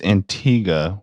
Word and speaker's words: Antigua: gets there's no that's Antiga with a u we don't pronounce the you and that's